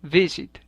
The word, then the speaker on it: visit: última consonante por ejemplo el verbo bizet tiene el acento en la primera sílaba visit y visiting quedará escrito